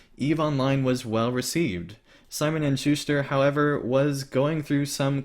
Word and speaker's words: Simon & Schuster: How do you pronounce that, Pineleaf? Simon Schubert? Simon Schuster.